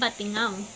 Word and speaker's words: Batingaw: ang unang ay Batingaw ang tamang pagbigkas nito ay Batingaw ito ay nangangahulugang kampa